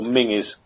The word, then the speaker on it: Menzies: Or Mingus. Is it apparently pronounced? Yeah. It's like Ming Campbell, that guy.